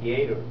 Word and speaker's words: theater: Theater. ¿Cómo se Theater. pronuncia theater? Pero la D es como con la lengua en los dientes de arriba.